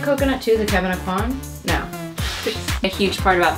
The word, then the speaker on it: Aucoin: Kevin Aucoin. Kevin Aucoin.